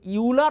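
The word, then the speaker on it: Euler: तो आपका यूलर और ऑयलर इक्वेशन से, वो यूलर ऑयलर जो इक्वेशन है, यूलर कुछ पूरा कंट्री में कुछ लोकेशन में यूलर बोलता है, कुछ लोकेशन में ऑयलर बोलता है, ठीक है उनका प्रोनाउंसिएशन।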